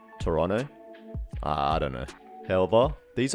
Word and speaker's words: Toronto: Wait, is it Toronto that you're not supposed to pronounce the second T? Toronto.